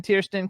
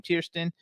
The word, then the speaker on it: Tiersten: We have Jonathan Tierston coming in. I think that's how we pronounce his last name, Tiersten.